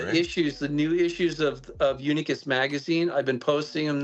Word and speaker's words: Unicus: Yes, it's Latin. It's pronounced Unicus.